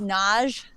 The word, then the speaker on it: Nagy: My last name is Nagy, like massage.